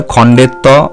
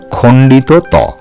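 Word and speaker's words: খণ্ড ত: এই বর্ণটিকেও আমরা অনেক সময় খণ্ডের ত বা অনেক কিছু বলে থাকি, সেগুলি তোমরা কান দেবে না, তোমরা সঠিক উচ্চারণে বলবে এটি হলো খণ্ডিত ত।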